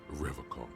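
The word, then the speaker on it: Revachol: pronounces Revacol with a hard K, unlike other people. You said Revacol? I like to pronounce it the hard way, the old way, the Vespertine way.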